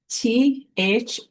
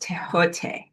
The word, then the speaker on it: Thoth: First, you wonder when I say that Egyptian name, Thoth is not pronounced Thoth, it is pronounced Tehote.